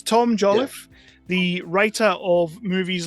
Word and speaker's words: Joliffe: I'm terrible with last names so it's Tom jolliff the writer of movies like fire NATO which